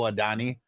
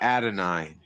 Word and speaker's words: Adonai: Who the is Oh, Adani. It's I think it's actually Adonai.